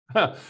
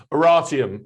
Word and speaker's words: Oratium: We've got Tim Pollard, CEO and founder of I'm sorry, I said it wrong. Oratium. Oratium. It's the root. It's an obscure Latin word for an oral argument. It's where we get orator and oratory from.